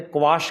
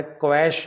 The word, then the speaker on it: quash: High court ने क्वाश कर दिया। यहाँ मैं खास तौर पे बताना चाहता हूँ, ये जो शब्द है QUASH, इसको ज़्यादातर मैंने देखा है क्वैश बोलते हैं, जबकि इसका सही उच्चारण है क्वाश।